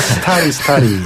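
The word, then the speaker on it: Starry: 소리가 아니라 스타리. 발음 그렇게 하는 거거든요.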